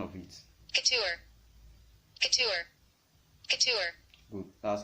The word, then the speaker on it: couture: you can add to your business name is couture. C-U-T-U-R-E. C-U-T-U-R-E. Let me hit you the pronunciation of it. Couture.